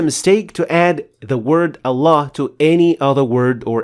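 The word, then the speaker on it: الله: On top of the second lam there is this symbol which indicates the existence of an alif afterwards. That's why we say Allah, not Allah.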